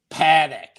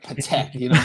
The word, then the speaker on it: Patek: Like this dude who says Paddock instead of Patek, Paddock.